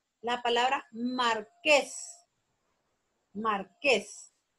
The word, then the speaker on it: marqués: La palabra marqués. Marqués. La sílaba tónica es ques.